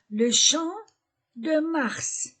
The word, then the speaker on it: Champ de Mars: Prononciation le champ de mars.